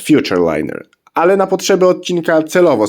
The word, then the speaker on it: Futurliner: pojazd którym jest gm Futur liner tak wiem że to się powinno czytać Future liner ale na potrzeby odcinka